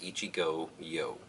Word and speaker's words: Ichigoyo: who works there, that it's actually two words, Ichigo, which is strawberry in Japanese, and yo, which is short for yogurt, which is, needless to